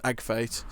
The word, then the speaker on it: AGF8: AGF8, Agfate. That's what, like in the Let's Plays, I say Agfate is like James and Agfate play because it's like easy to say.